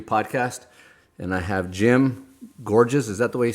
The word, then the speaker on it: Gorges: and I have Jim gorgees is that the way you say your last name that's close enough georgees is how it's pronounced Geor it's German yeah get just little